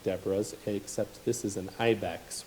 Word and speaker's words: Deborah: Her name is Deborah. If you want to be really Hebrew about it, you could call her Deborah, but I think we'll stick with the English pronunciation for the purposes of this lesson.